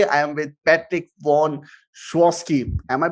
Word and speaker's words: Sychowski: So today I am with Patrick von Schwosky. Am I pronouncing it right? Yes, Schwosky.